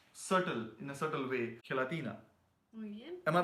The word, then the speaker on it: gelatina: gelatina.